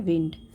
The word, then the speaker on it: wind: और इसका उच्चारण विंड होगा। Wynd नहीं, बल्कि Wind।